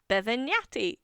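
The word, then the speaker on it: Bevegnati: Did you say nati? Yeah, that's how it's spelled like lasagna. I can't imagine anything spelled like lasagna. So his name was Giana Bevenati. B E V E G N A T I like in lasagna.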